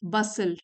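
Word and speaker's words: bustle: बसल T silent है।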